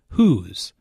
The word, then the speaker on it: who's: get one language notes who's is the contracted form of who is it is pronounced the same way as who's but the meaning is